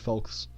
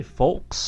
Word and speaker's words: folks: Stay tuned, folks. Did you say folks? That's what I said. Hey, why did you pronounce the L? Is it silent? In my world, folks.